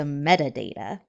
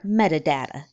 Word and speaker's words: metadata: the description and the metadata or metadata both pronunciations are correct we have a lot